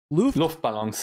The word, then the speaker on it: Luftballon: Luftballons, yeah. Luftballons. Is that like how you properly pronounce it?